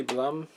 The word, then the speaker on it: Blum: Blum in the lead, I'm pretty sure. I think. Which is pretty cool. Stephen J. Bloom, actually, is how you say that, whatever.